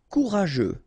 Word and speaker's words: courageux: Courageux, final X not pronounced. G-E-U together, they will give you this je, okay?